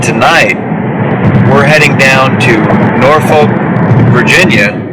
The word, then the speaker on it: Norfolk: This is an interesting case because And Lydia is right, it actually is Norfolk. It's not Norfolk. It's not how it's said. And anybody from England, like literally anybody from England, would probably give you a strange look, because that's what Norfolk is named after.